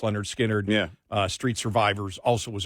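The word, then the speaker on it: Lynyrd Skynyrd: skard fan I mean especially pronounced Leonard skinnard yeah Street survivors also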